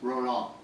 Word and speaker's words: Roland: Yes, and it's actually pronounced liaison, and my name is actually pronounced Roland.